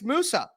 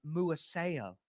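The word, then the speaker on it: Darius Muasau: be a possibility uh Darius Musa uh UCLA 511 225 he's already 23 years old or muo I guess is the correct way to say it but he's a thick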